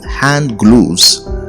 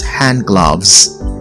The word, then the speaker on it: gloves: the word hand gloves most people often say hand glues but this is wrong the right thing to say is hand gloves gloves doves love let's